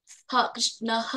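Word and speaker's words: ಕೃಷ್ಣಃ: ಮೂರು ಆರು ಏಳು ಎಂಟು ಕೃಷ್ಣ ಆದ್ಮೇಲೆ ಒಂದು ಹೆಸರಿಗೆ ಬರುತ್ತೆ ಅವಾಗ ಮಾತ್ರ ನಾವು ಕೃಷ್ಣಹ ಅಂತ ಹೇಳಬೇಕು ಇಲ್ಲಿ ಬಂದಾಗ ಈಶ್ವರ ಪರಮ ಕೃಷ್ಣಹ ಅಂತ ಹೇಳಬೇಕು ಈಶ್ವರ ಪರಮ ಕೃಷ್ಣಹ ಅಲ್ಲಿ ನಮಗೆ ಹ ಅನ್ನೋ ಉಚ್ಚಾರ ಬರಬಾರದು ಈಶ್ವರ ಪರಮ ಕೃಷ್ಣಹ ಸಚ್ಚಿತ್ ಆನಂದ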